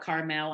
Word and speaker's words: Carmel: that live in Carmel I call it Carmel I know it's pronounced different ways and Greenwood and we